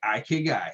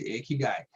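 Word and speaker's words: 生き甲斐: as you can to find your ac guy ik guy or ak guy depend of where you from or do you want to pronounce it i say ik guy some people might say a key guy okay but it's the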